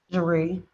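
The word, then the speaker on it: Jahri: yeah how do you pronounce your first name marie spell it j-a-h-r-i all right you're charged with improper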